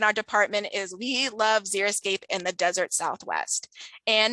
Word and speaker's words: xeriscape: Some people mispronounce it as xeroscape, which to me sounds like no landscape, whereas xeriscape can be colorful, it can be diverse and attractive.